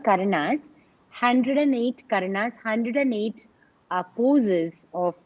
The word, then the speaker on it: karana: They're called karanas.